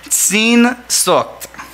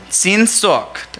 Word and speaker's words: Sehnsucht: The writer explains a popular German word which captures this concept, a word that I'm going to try and pronounce, but it's the word Sehnsucht. Sehnsucht.